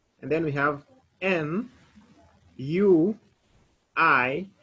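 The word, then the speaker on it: nuit: n u i t so whenever we have u i in a letter in french we normally pronounce it like we that is w i we so when we say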